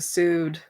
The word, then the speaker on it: pseudo: I'm gonna out myself as a pseudo. Pursued? This P is silent, I believe.